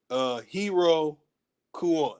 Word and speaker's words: Iroquois: That the pronunciation is not O-Y, it's O-way. Hero Kua.